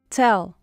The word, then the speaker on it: tell: Tell. Tell. Um pouquinho de ar no T. T. T. Tell. E pronuncia o L também. Tell.